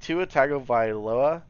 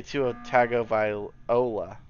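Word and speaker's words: Tua Tagovailoa: say his name right i finally got down though so like to otago via loa i used to say two of tago viola two attack of viola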